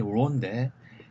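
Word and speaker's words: ρ: 그 다음에 이제 로인데 저 같은 경우에는 이 발음이 많이 헷갈렸었어요. 왜냐하면 이게 모양은 P 같은데 발음은 R이거든요.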